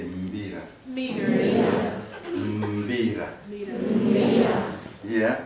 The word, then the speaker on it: Mbira: So when you see an M and followed by B and I there, you have to make all the sounds but very tight.